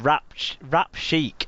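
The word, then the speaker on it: Wrapchic: fast food outlet called Rap Chic, I think would what you'd be pronounced as. WRAP, it's in rap, like a food rap, and then chic, CHIK, it's in whatever that means. Like the band, yeah.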